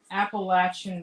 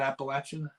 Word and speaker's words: Appalachian: played against Brody yeah I said Appalachian State is Appalachia Appalachian like the Himalayas Himalayas hey you should be happy